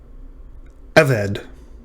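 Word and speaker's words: עבד: Eved.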